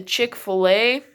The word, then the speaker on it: Chick-fil-A: But it's also, we say Chick-fil-A. It's not really a fillet.